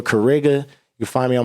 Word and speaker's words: Cariga: The X is silent for Kariga.